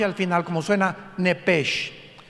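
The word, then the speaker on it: נפש: en el hebreo es nepes con s h al final Como suena nepes pero la sh en hebreo se pronuncia como J Entonces se pronuncia nepe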